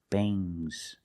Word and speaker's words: bangs: Remember with NGS, it makes a soft G. Bangs.